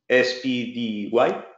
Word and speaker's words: SPDY: Okay, well, you can heard about SPDY, S-P-D-Y, okay, but I think the pronunciation is SPDY.